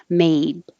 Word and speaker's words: made: If the final sound is voiced, made, is voiced, then the vowel will be a little longer, made.